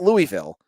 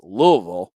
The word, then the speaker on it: Louisville: on two L Louisville I can say it right it's not Louisville it's Louisville that I got yelled at for saying it wrong Louisville two Louisville podcasts